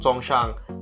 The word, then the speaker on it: Songshan: know when you when you actually get into Songshan that's how you pronounce it when you get the Hongshan that's